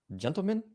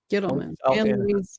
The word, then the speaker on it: Gittleman: Anne Louise Gentleman, PhD. Gittleman. Anne Louise Gittleman. Oh, I'm sorry. Yep, I mispronounced it.